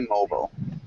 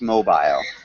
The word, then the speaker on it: mobile: pronunciation of mobile uh in the United States we'd say mobile mobile yeah and if you're in England it's mobile okay mile but yeah